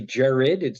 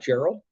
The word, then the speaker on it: Gerard: It's actually Jared. There's no L. It's not Gerald. Okay, perfect. So it's an Irish pronunciation of Gerard.